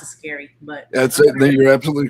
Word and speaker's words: S.C.A.R.I.: Well, I pronounce it scary, but that's it.